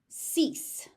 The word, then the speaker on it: cease: Cease, cease. So you got an S and a C, and they're both pronounced as S.